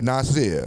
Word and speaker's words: Nazir: Nazir. Yeah. Nazir. Right. Now, is yours spelled with Nazir or Nasir?